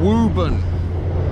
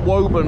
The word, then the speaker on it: Woburn: me how are you doing so anderson rtc wubun not woburn and i've made that mistake once too many